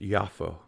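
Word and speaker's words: יפו: exactly what i was in hebrew it's pronounced yaffo yeah whatever that too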